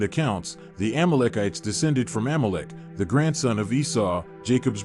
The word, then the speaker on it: Amalek: In Hebrew, his original pronunciation is rendered as Amalecch, a name that to the ancient Israelites represented not just a people, but a constant threat.